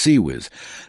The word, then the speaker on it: CIWS: The weapon's nickname CIWS, pronounced sea whiz, comes from a distinctive buzzing sound it spinning barrels create during firing.